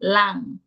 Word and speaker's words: lang: Or in Jamaica, we would say lang vowel. Instead of long, lang.